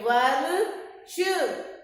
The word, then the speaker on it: वर्ष: अब ये भी आधा, देखो इसमें र लगा हुआ है वर्ण के ऊपर, तो इसका उच्चारण ये किस पे लगा हुआ है? श से षटकोण पे, तो श से षटकोण से पहले इसका उच्चारण करेंगे। वर्ष, वर्ष।